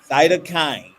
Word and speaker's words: cytokine: She did her graduate research in, and help me with this pronunciation. Cytokine. Cytokine.